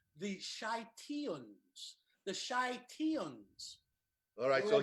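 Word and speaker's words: Scythians: c y th i a and s it's pronounced the shite Ian's the shite Ian's alright so here ancient tribes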